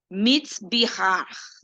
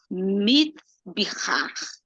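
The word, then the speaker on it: מזבח: Ela vem da palavra hebraica mitzbihar, o chué, tá? É assim que se pronuncia. Até acabei de ver agora há pouco sobre isso. Mitzbihar.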